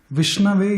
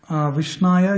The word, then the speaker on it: Vishnave: In grammatically, if there is a word Vishnu, Vishnave is correct. Vishnaya is not correct usage of that word. So Murkha, like the people who are not knowing about the grammatical aspects of it, will tell Vishnaya, but the correct scholars will tell Vishnave.